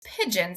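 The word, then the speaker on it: pidgin: And then there's pigeon sign language, which is not spelled like the animal, said like the animal.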